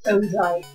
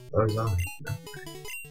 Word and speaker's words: Ozai: It's like, oh hi, but, you know, Z instead. It's in Bill's PC. Well, you can do, like, in between the... next episode, bring obviously Ozai back into it and